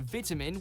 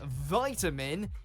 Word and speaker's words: vitamin: say the word is in the UK you'll hear vitamin with a small I but in the US it becomes vitamin as though it's a capital I the short I pronunciation is a lot more common throughout the world than the American variant the word being said this way across Europe and you may even run into it in Canada where the two lexicons